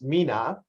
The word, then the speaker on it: MENA: And for every description that is a mouthful, we obviously need to find an abbreviation, and it's typically pronounced MENA.